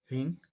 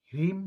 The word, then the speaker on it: ह्रीं: तो मंत्र है ओम ह्रीं अश्व तेजासय अधोवानी स्वाहा। मैं फिर से कह रहा हूँ, ओम ह्रीं अश्व तेजासय अधोवानी स्वाहा। याद रखिएगा, ये ओम ह्रीम नहीं है, ह्रीम नहीं है, ये ह्रीं है।